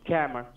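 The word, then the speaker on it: Kammer: camera k-a-m-m-e-r k-e-m-m-e-r right it is pronounced camera did you get my name right camera i am a scammer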